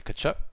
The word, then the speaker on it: Tkachuk: Brady Tkachuk. The all too common TK beginning of a last name.